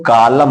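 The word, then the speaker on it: column: यहां सी ओ एल यू यम यन है, यम और यन साथ में आया, तो जब यम और यन साथ में होता है तो यन साइलेंट हो जाता है, इसको कालम बोलते हैं, इसको कालम बोला जाएगा।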